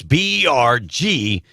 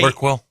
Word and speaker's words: Bergquam: It's Bergquam. This guy, Berkwell. This guy, how you get an EL at the end? Berkwell. It's silent. What's silent? L. There is no L in the name. You spell it B-E-R-Q? No, I said B-E-R-G-Q-U-A-M. Where's the L? Q-U-A-M. Berkwell. Quell, yes. Like NyQuil, right?